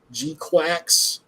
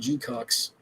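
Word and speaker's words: GQuuuuuuX: I've started Gquax. That's how you're supposed to pronounce it. It sounds weird as hell, but that's the way it's pronounced. Uh, I was calling it G-Cox, but uh I'm only two episodes in, but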